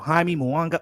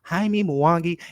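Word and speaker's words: Jaime Munguía: better check it out hi me moana oh and excuse me because i'm gonna be corrected haimi mawangi let me pronounce his name right because i'm tired of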